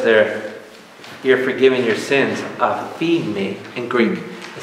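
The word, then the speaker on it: aphiemi: The Greek word is aphemi, A-P-H-I-E-M-I, aphemi, A-P-H-I-E-M-I. It's very close to pronunciation to another word called liberty, aphesi, A-P-H-E-S-I, aphesi.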